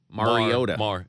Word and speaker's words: Mariota: Well, it's every time I pronounce his name, it's wrong. It's Mariota.